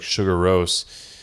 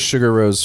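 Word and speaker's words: Sigur Rós: as well as like some secular bands like Sugar Rose.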